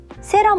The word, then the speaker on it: 세럼: What matters is knowing the Korean pronunciation so you can ask for it in a store. 세럼 어디 있어요?